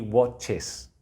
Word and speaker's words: watches: They watch, he watches. Esa E se pronuncia casi como una I, pero no llega a ser una I.